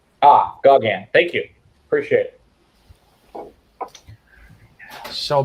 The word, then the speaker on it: Gauguin: Pronounced Gauguin. Gauguin.